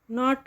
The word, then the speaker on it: knot: नॉट और नॉट, नॉट ये इसमें के साइलेंट होता है, तो ये एक नॉट वाला जो KNOT नॉट है वो होता है गांठ बांधना, और नॉट मतलब नहीं।